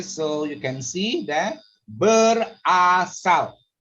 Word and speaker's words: berasal: So you can see that berasal. See my mouth, I show you berasal. You have to open your mouth to make sure the vowel sound is correct.